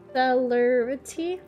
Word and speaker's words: celerity: do you say that Celerity it looks like celery okay but with like an INT until then my dear